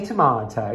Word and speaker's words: tomato: Lyon but tomorrow's festival how do you pronounce tomato yeah it's a tomato people be sorry tomato yeah that's fine and apparently say tomato tomato tomato yes but I say tomahto it's okay I'm Thai